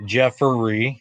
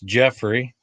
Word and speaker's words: Jeffrey: is my real name re y not e r y so it's not Jefferey it's Jeffrey and Tammy is spelled